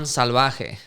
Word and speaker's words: Salvaje: I get salvaje a lot, and I'm like, what? That sounds awful. Salvaje. Salvaje. Yeah. Is it salvaje or salvaje? Salvaje. Right, but perfect. I break it down phonetically for people, got it. It's salvaje. Yeah.